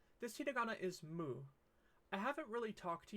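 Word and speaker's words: む: how it's pronounced so this is Moo like a cow let's use moo to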